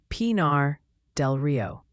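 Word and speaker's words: Pinar del Río: It's Pinar del Rio.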